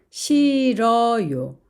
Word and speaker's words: 싫어요: 그리고 모음을 만나면 싫어요. 앞에 있는 리을은 발음이 되고 히읗은 탈락이 되어서 싫어요라고 합니다.